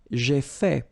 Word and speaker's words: fait: J'ai fait. So remember, final T is not pronounced.